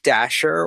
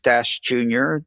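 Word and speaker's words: Dashjr: popularity contests at least, is Luke Dasher or Luke Dash Jr., depending on how you want to pronounce that.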